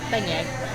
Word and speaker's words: beignet: Beignet, yeah.